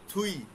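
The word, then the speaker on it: 뒤: থুই, দুই বানানো হচ্ছে দুই, কিন্তু উচ্চারণ হচ্ছে থুই, থুইয়ে বা থুই, থুই হচ্ছে পিছনে, আপ মানে সামনে, থুই মানে পিছনে, আমরা দেখব।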